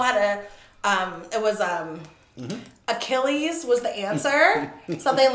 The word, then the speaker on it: Achilles: was the answer yeah he kept saying it wrong right and and the whole word was already spelled out like he didn't have to guess he said ageless you see this but